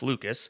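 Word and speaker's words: Lukes: Nikk Nis, yikes, Nathan Lucas, which is I think I've learned how to pronounce his name. Not Luke. Lucas.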